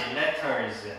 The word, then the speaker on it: letters: Letters. Letters. 자, 이거를 영어식으로 하면 어떻게 돼요? Letters. Letters. 자, 다 같이. Letters. Letters. 자, 이거 T가 이렇게 두 개 이렇게 붙어있으면 좀 약하게 됩니다, 영어는. 발음이 약하게.